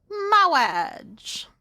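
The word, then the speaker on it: Mawwiage: That is how you spell Moage.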